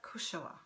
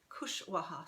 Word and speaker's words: Kushwaha: Tomorrow we have Secret Lives of Mothers and Daughters by Anita Kushoa. So this one, Kushwaha, sorry, I mispronounced that.